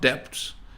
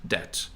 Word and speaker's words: debt: who has no debt just remember debt as a silent B it's not depth its debt as is a doctor